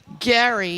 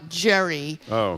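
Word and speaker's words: Gerry: high school public education Apparently Eldridge Gary is pronounced Gary, not Jerry.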